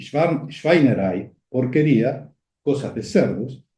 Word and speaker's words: Schweinerei: Se establece otra serie de asociaciones fonéticas a través del fonema formado por el diptongo EI, que se pronuncia AI. Entonces tenemos Schweinerei, que sería porquería, pero